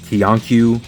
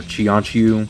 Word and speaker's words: Qianqiu: This time I'm taking a look at the snail shell fellow moon agent Kianu or Chianu. Sometimes the Q in Chinese is pronounced like a ch. So I think it's Chianu.